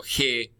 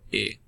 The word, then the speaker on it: he: Remember, of course, that the H is silent, so you can ignore that. So, it's not yo he, but yo he.